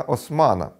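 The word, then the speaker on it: Haussmann: сенатора і префекта барона Османа. Але до турецької династії Османів він не мав жодного стосунку, адже був німецького походження. Просто прізвище Хаусман французькою читається як Осман.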